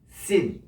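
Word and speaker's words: שׂין: 요 모양에서 점이 오른쪽에 있으면 쉰이라고 할 겁니다. 쉰. 그리고 요게 왼쪽에 있으면 신이라고 읽어요. S에다가 점을 위에 하나 딱 찍은 신이라고 읽어요.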